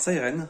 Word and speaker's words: Psyren: Alors Siren, ça s'écrit Psyren, mais c'est un jeu de mots avec Siren, donc la sirène, le bruit qui retentit.